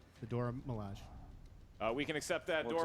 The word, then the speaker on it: Dora Milaje: the Dormelage. Yeah. Well, Dormelage, but yeah. I'm pronouncing it correctly. The Dora Milaje.